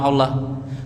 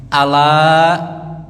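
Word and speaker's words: أَلَا: Ala jangan baca alla ya. Ala. Ketahuilah kalau bacanya alla itu artinya seperti kita bersyahadat. Ashadu alla tulisannya an la bahwasanya tidak ada itu. Jadi jangan dikasih tasdid. Ashadu alla tuh baru ada tasdidnya. Kalau ini mah ala jangan dibaca Allah.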